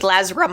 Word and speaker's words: Lazram: No, the the M and the R sound are switched. Lazram.